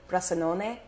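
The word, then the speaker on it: Bressanone: I was in the Italian Alps in a town called Brixen. That's the German pronunciation, and the Italian is Brassanone.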